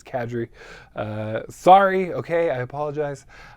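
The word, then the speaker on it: Kadrey: pronounce the last name it's not Kadri it's cadri uh sorry okay I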